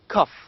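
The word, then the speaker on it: cough: these two words photo cuff these two words the first one cuff ends with gh two letters combined letters g and h but the pronunciation of these two is only f the second one is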